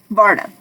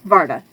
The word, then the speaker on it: Varda: okay there's that okay we're getting to Yvonna Varna sorry I got her name wrong varda and the elves called her because it was